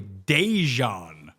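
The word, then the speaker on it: De'Zhaun: Last name Stribbling's first name like like you gota like gota get the Z in there. But it's actually Dejon as I'm reading it per the the website right now.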